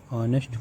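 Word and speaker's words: honest: फिर राम इज एन ऑनेस्ट person.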